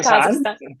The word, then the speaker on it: Kazakhstan: Because I know in your background you came from Kazakhstan, if I said it right. Yeah, Kazakhstan.